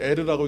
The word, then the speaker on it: 에르: 그런데 다말의 남편 유다의 장자, 성경에는 엘이라고 됐지만 본래는 에르라고 읽는 것이 맞아요.